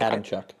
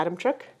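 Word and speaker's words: Adamczyk: karolina adamin ad adamin Adam Chuck yeah Adam Chuck Adam Chuck there's no h in it CZ YK I believe is Chuck anyone from um Manitoba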